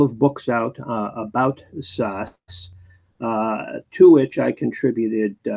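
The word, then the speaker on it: Szasz: how you pronounced it he pronounced it SAS like SS but most people pronounced it as zaz ah okay um what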